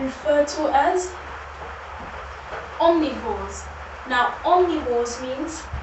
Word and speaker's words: omnivores: Now, omnivores means the O, I'd like to say, stands for all. It's not an A, it's an O, but when you pronounce it, it does say all, right?